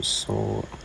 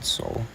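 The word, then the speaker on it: SOL: So, if you're still looking for that long on Soul or S, I would pronounce it soul.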